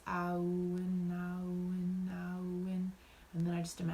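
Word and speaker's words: Awen: keep repeating the word, I'll win, in my head. That's a Welsh word that means divine inspiration. It's not said in 2 syllables, it's said in 3.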